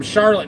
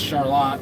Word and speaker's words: Charlotte: somebody commented they're from Charlotte North North Carolina I'm pretty sure that Ted here is from just north of Charlotte Michigan and it's pronounced Charlotte for whatever reason not charlot anyway uh all the